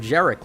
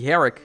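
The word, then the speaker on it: Gerik: but i guess it's garrick isn't it or it could be a silent g it could be herrick right like kind of spanish with the pronunciation there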